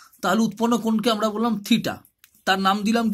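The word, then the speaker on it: theta: এটা as usual একটা Greek letter, সাধারণভাবে গ্রিক লেটার দিয়ে কোণের মানকে প্রকাশ করা হয়, থিটা, টিএইচই টি এ, প্রোনাউন্সিয়েশনটা হচ্ছে থিটা।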